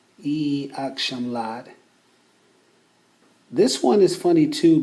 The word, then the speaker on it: İyi akşamlar: This one is funny too because when you hear it spoken on the street, it sounds more like yakshamlad. It's as if that second vowel E is not really being pronounced.